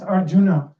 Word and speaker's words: Arjun: know how to pronounce Arjuna um so Dr Vinoy he said to pronounce R in the month June foreign foreign Arjun ction otherwise that's